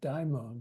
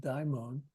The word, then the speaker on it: daimon: The Greek spelling of the word makes it sound like daimon rather than, it's a long O at the end, daimon, rather than demon.